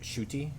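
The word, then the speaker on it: Ncuti: wanted to say uh his name is pronounced shooty I think uh correct me if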